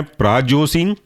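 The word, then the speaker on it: prazosin: alpha one selective के अंदर के एग्जांपल है प्रायो सन स्पेलिंग है प्रा पी आर A Jason Z ओ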